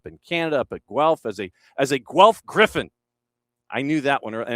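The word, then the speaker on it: Gryphon: Canada, up at GE as a as a Griffin. I knew that one. And it's Griffin like not not like the city south of here. Not G R I F F O N but G Griffin.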